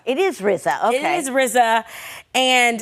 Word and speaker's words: RZA: It's RZA. It is RZA, okay.